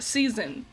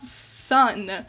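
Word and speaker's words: SSSN: what a disappointment also their team name should have been pronounced season not sun that's stupid and season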